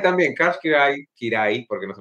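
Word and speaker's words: Kiraly: Ya, y también Karch Kirai, porque no se pronuncia Kirali, lo hemos aprendido hoy día.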